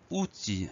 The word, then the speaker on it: outil: Le mot suivant, c'est le mot outil. Alors, outil, première syllabe, ou, très facile, O-U, mais deuxième syllabe, T-I-L. On a une lettre muette, le L muet.